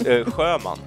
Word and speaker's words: Sjöman: It's Sjöman. Yeah. Okay, very good. So, and you spell that, because none of you will know how to spell that.